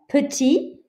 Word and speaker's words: petit: Petit, you don't hear this T.